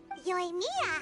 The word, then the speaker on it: Yoimiya: Yoimiya, huh? Alles klar. Da bin ich ja froh, dass ich es richtig ausgesprochen habe.